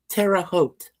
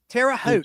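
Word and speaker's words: Terre Haute: It's pronounced terraoot. Terraote.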